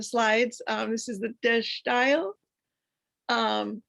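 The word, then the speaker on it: De Stijl: um this is the dash style um it's pronounced dash style it's a dutch word for style and this movement started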